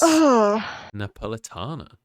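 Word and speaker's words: napoletana: i apologize vash for not having the correct pronunciation of the pizza it's napolitana oh yeah there you go learn something new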